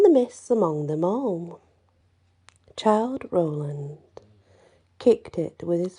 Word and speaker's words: Childe: i have never heard it's called child roland and it's spelled c h i l d e child interesting child roland and